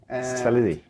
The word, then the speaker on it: Szelei: for me so my name is salidi i always want to get it to some